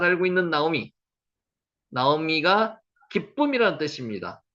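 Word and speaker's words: נעמי: 나오미가 기쁨이라는 뜻입니다. 나오미, 나오미 이렇게 읽습니다. 여기 오 발음이 나죠.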